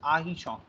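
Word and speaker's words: artichaut: सो मैं फिर से बोल रहा हूं, टी का प्रोनाउंसिएशन और आर का प्रोनाउंसिएशन फ्रेंच में नहीं होता है. सो इट्स आर्टिशॉन. इट्स आहिशॉन, not arti, sorry, it's ahichon.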